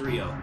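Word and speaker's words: Ryo: version both it's Rio you you should be pronouncing it as Rio right yes it's like it's like it's like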